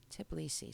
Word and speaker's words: Tbilisi: I always mispronounce that. Tbilisi.